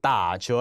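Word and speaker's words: 打折: 다시 한번 정확하게 打折 라고 읽습니다.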